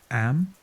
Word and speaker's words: Eyam: It's now the summer of 1665, and we find ourselves in Eyam, a small village nestled in the picturesque hills of Derbyshire, England. Am, is pronounced just like M.